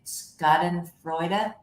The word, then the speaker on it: Schadenfreude: And it was, I don't even know how to say it, Schadenfreude.